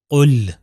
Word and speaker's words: قل: دیکھیے تلفظ کیسے ہوگا، قل، قل، قاف 2 نقطے والا ہے، اگر ڈنڈے والے قاف سے ملا دوں تو ہو جائے گا کل۔ مطلب دیکھیے کتنا چینج